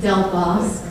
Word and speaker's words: Del Bosque: Del Boss, Del Boss. Your Honor. How do you say it? Del Boss. Del Boss.